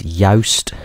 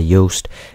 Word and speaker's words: Yoast: to type in is Yoast or Yoast. I'm not really sure how you pronounce it, but it is simply spelt like toast but with a Y.